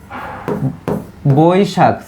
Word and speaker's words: বৈশাখ: বৈশাখের সঠিক উচ্চারণ করি ঐকার থাকলে আমাদের লিখতে হয় হচ্ছে এভাবে বই শাক এখন বৈশাখ এই যে বৈশাখ ঠিক আছে বৈশাখ এরকম উচ্চারণ হবে এইটা যখন আমি আরেকটু